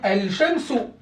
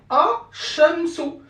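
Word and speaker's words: الشمس: Normalement, je dois dire Al-Shamsu. Al-Shamsu, normalement. Al-Shamsu. Mais, comme le Shin, le CH là, c'est une lettre solaire, donc on va devoir malheureusement faire quoi? Enlever le sukun ici, c'est-à-dire on ne va plus vocaliser le lam, et mettre une shadda sur la lettre solaire. Donc on va dire A-Shamsu.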